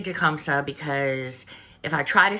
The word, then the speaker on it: Tecumseh: Now, his name is supposedly pronounced Tecumtha in Shawnee. But, I'm going to say Tecumseh because if I try